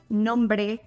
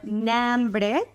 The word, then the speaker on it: no hombre: In this example, I'm combining two slang terms, no hombre, which is usually pronounced as nombre or nambre, and the expression crudo.